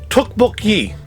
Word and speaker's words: tteokbokki: is the best thing it's supposed to be pronounced tookbook so i'm going to try to say it